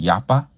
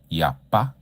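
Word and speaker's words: יפה: Yafa. Yafa that means beautiful initiate. Some people pronounce it yappa. Yapa with a P or with the F sound.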